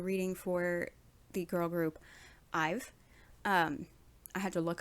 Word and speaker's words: IVE: for the girl group ive um i had to look up how to pronounce that name because i wasn't sure but i saw somewhere that it's a contraction for i have so i've if that's not correct